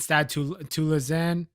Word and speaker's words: Stade Toulousain: between Utah Warriors and Stade Toulousain. Yes, that's how you pronounce it in French.